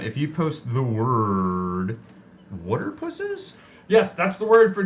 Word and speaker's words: Waterpuses: pronounces it Waterpuses. All right. Okay, They're so gonna the get from a bottom Jersey line accent. is... So, water. Well, Type in the chat water pusses, P-U-S-E-S, like octopuses, or water.